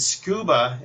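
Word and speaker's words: Scooba: same company that made the Roomba iRobot and scuba is not spelled the normal way it's spelled SC o ba so if you're searching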